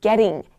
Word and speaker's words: getting: 촌스럽게 들릴 수 있어요 그 북미 발음에서 나 D 발음이 모음 사이에 오면은 플래 사운드라 그래서 약간 약간 are 발음처럼 소리가 들려요 그래서 getting getting 이렇게 해 주시면 됩니다 혀가 딱 튕기